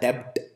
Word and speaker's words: debt: other person and B we don't pronounce b it is silent so it is written as debt but it is pronounced